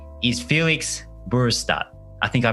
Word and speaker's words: Felix Burestedt: His name is Felix Burestedt. I think I pronounced that okay.